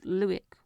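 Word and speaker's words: Luik: Lege is Luick.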